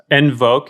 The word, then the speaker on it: nvoke: i i have a consulting uh company it's envoke and it's spelled differently it's n-v-o-k-e consulting group dot com